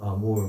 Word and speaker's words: amour: obligatory for everyone to pay homage to spiritual amour that characterizes the highest service of the divine person. What does the word amour mean?